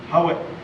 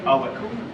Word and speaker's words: howit: We have a word that's pronounced howit if it's pronounced by itself. Howit or Awit Yeah.